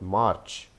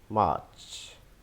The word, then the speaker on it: March: So this is not March. This is March, March, March. So there's no sound in that. It is March.